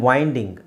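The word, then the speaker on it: wind: ಕೈಗೆ ಇದು ಐ ಆಮ್ ವೈಂಡಿಂಗ್ okay ವೈಂಡ್ ವೈಂಡ್ ದು past tense ವೌಂಡ್ ವೈಂಡ್ ವೌಂಡ್ ವೈಂಡ್ ಇದು ವೈಂಡ್ ವಿಂಡ್ ಆಗುತ್ತೆ ಇದು ವೌಂಡ್ ವೂಂಡ್ ಆಗುತ್ತೆ ಸೋ ಸ್ಪೆಲ್ಲಿಂಗ್ ಒಂದೇ ಇದೆ ನೋಡಿ ಮೀನಿಂಗ್ ಚೇಂಜ್ ಆಗುತ್ತೆ ಉಚ್ಚಾರಣೆನು ಚೇಂಜ್ ಆಗುತ್ತೆ ಆ ತರದ್ದು ಸುಮ್ಮನೆ ಅಲ್ವಾ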